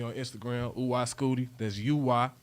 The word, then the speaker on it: Uy: That's UY. I pronounce it Uy.